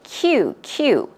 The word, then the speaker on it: queue: So queue, this word is pronounced as you would pronounce the alphabet Q. Okay, Q.